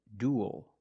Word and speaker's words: duel: different pronunciations we have the first word is duel duel we see UE L making the same sound as before like pool and cool duel and it ends with a dark l because the L is after a vow at the end of a word duel this is a